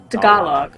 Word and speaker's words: Tagalog: Tagalog. Okay. So I have maybe been mispronouncing it all this time.